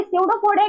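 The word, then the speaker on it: pseudopodia: सडोपोडिया की spelling shadow से सी से बोल रहे हैं। लेकिन कैसे लिखा जाएगा? पी से स्टार्ट होगी।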